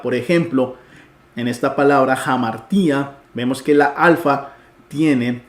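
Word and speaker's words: ἁμαρτία: ejemplo en esta palabra jamartía vemos que la Alfa tiene el espíritu rudo uno no lo traduce ni lo pronuncia amartía sino que al tenerlo es jamar tía Qué significa pecado cuando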